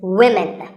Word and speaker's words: women: One word that's often mispronounced by learners of English is women. This is, of course, because of the English language's crazy spelling system. But remember that we say woman for one woman and women for the plural.